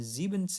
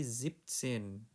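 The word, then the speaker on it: siebzehn: Zipsen bukan Zenin tapi Zipsen.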